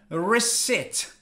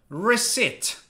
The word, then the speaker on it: receipt: a very embarrassing situation first pay attention to the pronunciation resit reset is there a p no you do not pronounce the P because it's silent reset reset versus recipe recipe